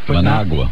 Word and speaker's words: Managua: And it rhymes with Nicaragua. Managua.